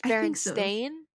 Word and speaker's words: Berenstain: i remember it s-t-e-i-n don't you pronounce it like you pronounced like bears bear was it berenstain it's bearing stain yeah it's a